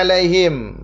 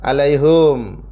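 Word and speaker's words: عليهم: Kila tadi udah ya Halaman yang berikutnya ada alaihim mana alaihim alaihim nah alaihim sama tadi ya yang sebelah alaihim bisa dibaca alaihim bisa dibaca alaihum ya kita ulang lagi yang bacanya him hanya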